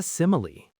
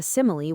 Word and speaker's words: simile: The first syllable sim gets all the stress. So what is a simile?